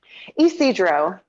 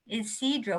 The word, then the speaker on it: Ysidro: Now, I've already forgotten this pronounced Ysidro. Ysidro.